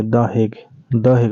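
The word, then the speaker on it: The Hague: द हेग बोला जाता है उसको, द हेग नीदरलैंड में है, HAGUE ऐसे ही कुछ स्पेलिंग है इसका, द हेग, जो कि नीदरलैंड में है।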